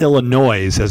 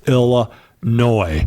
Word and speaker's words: Illinois: so I definitely llinois it's not Illinois zazz it's spelled it's Illinois Aloha I think one